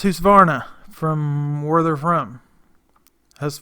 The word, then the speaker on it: Husqvarna: went to Home Depot and looked at my house of varna and before anybody says it I'd say it's almost every video I try not to but it's pronounced who's varna from were there from this morning there from